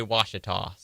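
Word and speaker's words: Ouachita: in arkansas i know but how do you pronounce it it's watch it well i looked it up and it did say washita washington that's what i'm going with okay hey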